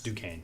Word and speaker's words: Duquesne: pronounce this do Queens Duquesne Duquesne why do I I see the cute and I want to make it I thought it was dunks the first time I saw it so yeah I mean